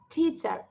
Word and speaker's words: teacher: আমরা কিন্তু অনেকেই বলি টিচার আসছে, আমার টিচার আসছে, টিচার চলে আসছে। নো, ইটস আ টিচার। সবাই উচ্চারণ করি, টিচার। দেখো একটা বাতাস বের হবে, তোমরা নিজেরা সবাই সবাই একটু হাত দাও।